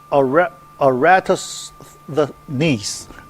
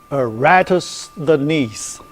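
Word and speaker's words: Eratosthenes: called seieve of aratus aratus the knees yeah I you know the break time you know I use Google to look look up for the pronunciation Okay. A ratus the knees.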